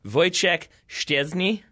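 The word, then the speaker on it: Wojciech Szczęsny: notes on Poland voice voice check stairs knee I think is how you say that name I finally made myself learn and I think I've got it and also a kamila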